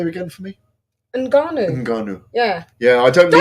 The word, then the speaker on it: Ngannou: Can you say Ngannou? Because that's how you pronounce it. It's not Ngannou.